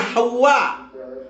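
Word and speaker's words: حواء: Rahim yang pertama itu Ummuna Hawa. Jadi perhatikan ya. Ibu Hawa itu Hawa. Jadi tulisannya itu ha, waw. Wawnya ditasdid. Kemudian ada alif, kemudian ada hamzah. Jadi bacanya itu Hawa, bukan Hawa.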